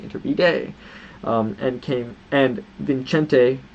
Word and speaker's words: Iturbide: in a specific biography I've been pronouncing it wrong should be inter bday um and came and